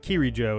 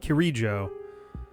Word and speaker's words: Kirijo: It feels like Kirijo is the right way to say it, not Kirijo.